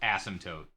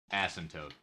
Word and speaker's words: asymptote: I'm not joking I am not joking it's pronounced asymptotes asymptotes this is not a joke I know right